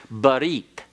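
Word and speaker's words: ברית: Because when the tau is found at the end of a word in Hebrew, it's pronounced as an S.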